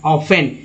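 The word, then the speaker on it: often: Of steel, steel is ऑफन, ऑफन में जो टी जो है दोस्तों यहाँ साइलेंट रखा गया है, टी को साइलेंट रखा गया है, नहीं तो लोग शुरुआत वाले लोग ऑफ्टन पढ़ते हैं, ऑफ्टन, फिर बाद में वो जान जाते हैं कि इसे ऑफ्टन नहीं ऑफन पढ़ा जाता है, तो ऑफन पढ़ेंगे आप।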